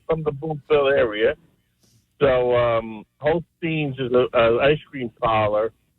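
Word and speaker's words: Holsten's: It's spelled Holstens. Is it Holstens or Holsteins? We say Holstein. Okay. Teins, yes. No, it's spelled Tens. Holsteins. Yeah, we call it Holsteins.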